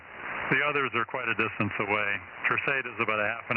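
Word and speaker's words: Terceira: Tercera. The Chief, Tango? Yeah, Tango, Echo, Romeo, C, Echo, India, Delta, Alpha. Romeo Alpha, yeah, Tercera. Okay. Yeah, she's going to Tercera, Jim. Yeah, the Portuguese pronounce it Tercera, and that's where the U.S.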